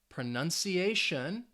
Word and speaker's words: pronunciation: about the word pronunciation pronunciation ends in tion how many syllables does it have five syllables all right pronunciation and the second to last syllable is that a a sound pronun pronunciation pronunciation you should hear it on that fourth syllable because it's the second to last syllable and that is going to have the stress all right so this